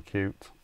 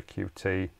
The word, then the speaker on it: Qt: which is based on cute or the QT framework depends on how you want to pronounce it which is used by